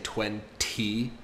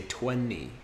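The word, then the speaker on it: twenty: do you notice that I don't say the T at the end so instead of saying 20 I say 20 with an n 20.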